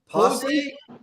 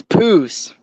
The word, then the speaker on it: Poose: Is it Poose? Posse? It's Poose.